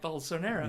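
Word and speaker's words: Bolsonaro: because now I know how to say the word Bolsinaro. Sorry. I've read it many times. I'm like, "Oh, he's fascist." Bonero. Bonero. There we go. Balls so narrow.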